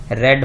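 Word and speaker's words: read: और वैसे इसको थर्ड और सेकंड फॉर्म का इसका प्रोनाउंसिएशन जो है वो रेड होता है, तो इसको हम बोलते हैं सी हैज रेड।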